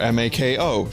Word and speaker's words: Mako: Oh, right, Mako shark. M-A-K-O, shark. Yes, Mako shark. That's how it's pronounced, Mako.